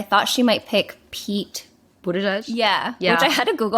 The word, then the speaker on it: Buttigieg: It says boot edge edge. But when you look at it, it's Buttigieg.